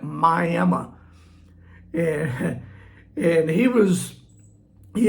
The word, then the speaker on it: Miami: Yeah, it's spelled Miami, but out here we call it Miami.